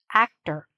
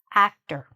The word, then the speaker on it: actor: Even though you see an "or", we don't say "or", we're shortening it, okay? There's a schwa there, "actor". So, the stress is here, and this is shortened, reduced. We say it fast.